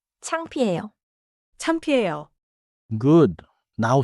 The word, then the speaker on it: 창피해요: Now, 창피해요. The middle sound is P, clear and simple. 창피해요.